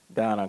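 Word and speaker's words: Dana: Now let me bring on Donna. It's spelled D-A-N-A. I think her parents kind of misspelled it, but the pronunciation is Donna.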